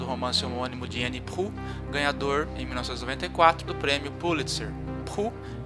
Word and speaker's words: Proulx: Proulx (c'est la prononciation, parce que l'écrivain Canadien français) produit le même style